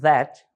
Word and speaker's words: that: Reparem na pronúncia, that, TH, né? Som de D, ok?